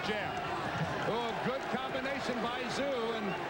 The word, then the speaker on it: Tszyu: Don't be confused by the spelling, the T-S-Z-Y-U. It is pronounced just like Z-O-O.